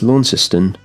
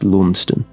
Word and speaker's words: Launceston: and, you know, maybe somewhere here outside of Lawniston. I think that's how you say it. It's Lawnciston in Tasmania, but the Lawnston that I believe it was named after in Cornwall in England is pronounced Lawnston.